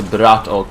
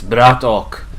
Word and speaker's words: Bratok: I'm doing good, and I'm really happy that you pronounced the name of Yes, Bratok correctly. No American can do that. They say, okay, it's Bratok.